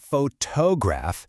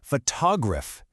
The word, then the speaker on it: photograph: For example, it's not photograph, it's photograph. The beat is on that first syllable.